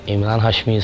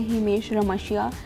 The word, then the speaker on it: Emraan Hashmi: want to listen to uh that all of Emraan Hashmi songs I couldn't pronounce his name right as a child and I used to say himesh ramashya I know I can't pronounce good and it